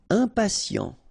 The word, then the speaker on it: impatient: Impatient. Okay, remember, final T not pronounced. And then you've got this T, I, and a vowel, so sien. Sien.